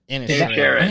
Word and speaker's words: Inisherin: Inisherin.